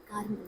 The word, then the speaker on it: Carmel: Sir, it is Mount Carmel. Carmel.